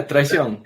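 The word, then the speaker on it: Traición: I got to work on of yours was traon is that how you pronounce it yeah Tron perfect okay okay got that one good one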